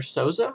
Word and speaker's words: Souza: is kind of odd xaber sza I believe it's how it's pronounced uh let's see he